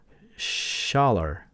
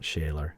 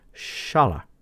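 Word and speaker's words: Schaller: the tuners that are the schaer brand not shayer I guess I did a Google look up on the pronunciation and the German is Shala or something like that so I'll try to be mindful of that I like the wood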